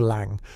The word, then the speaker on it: Lang: A man with a pencil mustache, later identified as Harrove's partner, Victor Lang. Pronunciation lang rhymes with song.